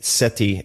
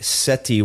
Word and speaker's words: Sethi: Why is the T pronounced like a th and the th pronounced like a T? I have Okay, I'll tell you two things about my name. First of all, in Punjabi, the way it's written, it's th so Ramit.